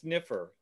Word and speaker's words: sniffer: That's giving the configuration of the sniper timeout, the sniper start, and just give it that by default. Just copy that here. By the way, that's pronounced sniffer.